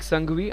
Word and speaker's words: Sanghvi: Pratik Sanghvi, I just got his name wrong in the most part of the innings. It is not Sangha, it is misspelled over there. Pratik Sanghvi it is.